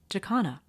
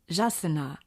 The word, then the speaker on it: jacana: are in the world the pronunciation of their name may vary one is jakana which I'll be using in this video there is also jasana which is a tupi Indian name yasana jasana and jagana if you know of